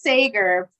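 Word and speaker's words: Seger: horrible with pronouncing names it's probably better to use the wrong one because it's spelled the way you said it but it's sager spelled s-e-g-e-r so it doesn't make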